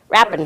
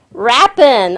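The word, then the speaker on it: Rapin: And for our Randy, R-A-P-I-N, how do you pronounce that, Randy? Rappin. W in front of it, you'll never get it wrong. Rappin.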